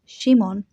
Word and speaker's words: Shimon: In Aramaic, his name would have been pronounced Shimon, and in Greek, Simon.